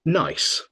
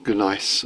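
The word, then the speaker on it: gneiss: thing right and it's it's spelled g n e i SS and it's pronounced nice nice nice nice yeah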